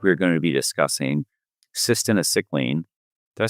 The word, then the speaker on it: cytisinicline: This week, we're going to be discussing Cytisinicline. Did I say that right? Cytisinicline. Cytisinicline. An old but new treatment for smoking cessation. You got to learn how to pronounce it. Cytisinicline.